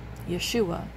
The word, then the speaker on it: Yeshua: okay, I am, and, Jesus' name is Yeshua, is how you say it, I think, correctly in Hebrew, but the Lord had showed me that that's not in the Bible.